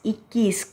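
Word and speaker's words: इक्कीस: So first one இக்கி is இக்கிஸ் கவோட half இருக்கு. So இக்குன்னு pronounce பண்ணனும். இக்கிஸ் அப்படினா 21.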